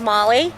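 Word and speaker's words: Maolee: dream thank you good afternoon my name is Molly um and it's spelled m a o l e e x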